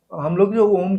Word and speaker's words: ओम: नहीं करवा पाते तो प्रॉपर अगर हम ओम का उच्चारण करेंगे तो वो अ उ म अगर तीनों का उच्चारण करेंगे उसमें आएगा तो